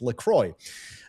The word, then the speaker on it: LaCroix: Despite the French sounding version, it's an American brand created in Wisconsin, and the company itself officially confirmed that it's LaCroix.